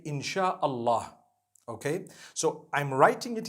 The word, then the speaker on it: insha Allah: s-y-a they pronounce it they pronounce the s y the way we pronounce s h so they can write